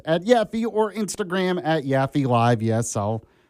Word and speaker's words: Yaffee: follow me on X @Yaffee or Instagram @YaffeeLive. Yes, I'll remind you how to spell it. Y A F F E E. It's not Yappy, it's Yaffee.